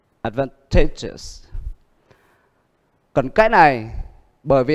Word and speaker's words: advantageous: Câu B, đuôi yes, nó nhấn trước nó một âm nữa. À, vậy thì nó nhấn âm advantageous.